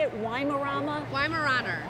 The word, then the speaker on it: Weimaraner: though how do you say it lying around Weimaraner Weimaraner a billy club i was really close aren't